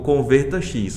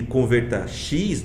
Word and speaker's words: Convertax: Porque eu entendo que Converta X não é normal de se pronunciar. né? Ou se fosse pronunciado no inglês seria Convertax ou Convertax, como a gente fala aqui, né?